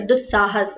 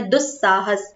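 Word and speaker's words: दुःसाहस: साहस ठीक है मतलब दु साहस हम उसको पढ़ दु साहस ऐसे दुस ऐसे नहीं पढ़ रहे हम दु साहस पढ़ रहे मतलब हम जब बात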